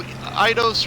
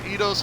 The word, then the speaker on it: Eidos: And they might, you know, Eidos or Eidos, however you want to pronounce it, they might take a break from it.